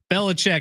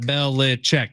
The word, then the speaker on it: Belichick: Belichick. How many syllables is that? Belichick. 3 syllables? 3 syllables.